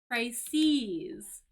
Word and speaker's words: crises: But here, actually, we have the plural of crisis, and the pronunciation is actually crises.